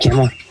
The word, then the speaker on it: Kamala: Okay, so if you don't pronounce her name right, I'm going to kick you. Kamala, do you want? Kamala.